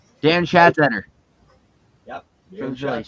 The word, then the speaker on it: Schatzeder: Schattenzer, how do you pronounce his name? Dan Schatzeder. Dan Phillies. Schatzeder.